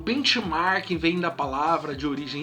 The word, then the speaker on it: benchmarking: bastante interessante uma ele em algumas pessoas de bic marking né eu vou pronunciada a forma que os americanos pronuncia tá benchmark que é estudar as